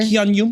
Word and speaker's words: Keanu: I like to do the liquid Keanu. U. Like in sure. Keanu.